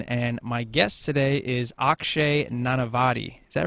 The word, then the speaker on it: Akshay Nanavati: It's Justin Stenstrom from Elite Man Magazine, and my guest today is Akshay Nanavati.